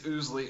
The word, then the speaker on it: Owsley: So, I say it wrong every time too, but I think it's Ousley.